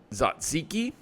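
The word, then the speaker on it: tzatziki: I started my meal with a Greek yogurt zaziki I believe that's how you say it it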